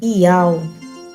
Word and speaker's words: Iau: é o Rê com som de A, W é o Wolf originalmente com som de U, e o último H é o Rê mudo, assim como em português no hebraico também o último H é mudo.